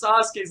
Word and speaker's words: Sasuke: The funniest they pronounce Sasuke's name Sasuk.